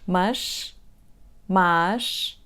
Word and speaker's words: más: Let's say once again all three words: "mas /mɐʃ/, más /maʃ/, mais /majʃ/ ".